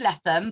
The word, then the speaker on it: Leatham: Welcome back to another live interview with our wonderful volunteer, Leatham. But her surname is pronounced Leatham, but spelt Leatham, but don't get it wrong.